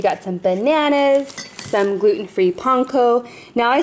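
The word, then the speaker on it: panko: for lunches we got some bananas some gluten-free ponco now I say ponco instead of panco you guys cuz I actually lived in Japan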